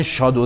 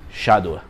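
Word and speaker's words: shadow: و درست کار کنی خیلیا توی ایران بهش میگن شادو زدن جفتش درسته ولی تلفظ اصلیش توی انگلیسی شدو اولین چیزی که ما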